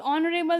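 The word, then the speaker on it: honourable: तो ऑनरेबल में भी सेम कॉन्सेप्ट है, एच का साउंड साइलेंट है, एच कॉन्सोनेंट है पर उसका साउंड ही नहीं है, इसलिए अ नहीं लगेगा पर एन लगेगा इसमें।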